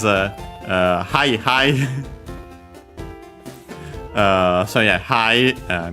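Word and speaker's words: はい: So yeah, hi means yes in Japanese. Accent on the first mora.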